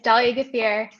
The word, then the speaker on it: Dahlia Graffia: engineer turned product manager dahlia graffia tell me if i pronounced that correctly yep it's dolly getfeer hey everyone hey thank